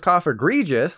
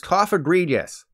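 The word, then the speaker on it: Cofagrigus: this guy cough egregious there's a small pool of people who probably thought it was cough egregious like egregious but it's cough egredious as for the evolved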